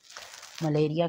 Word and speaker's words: malaria: मलेरिया के spelling देखिए आप, MALA माला, RIA Riya, malaria। The original pronunciation is मलेरिया।